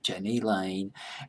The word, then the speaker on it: Jani Lane: Janie Janie Kemp Rinna JJ a hi just pronounced that's Janie Janie Lane and Steven Steven sweet the drummer Plain Jane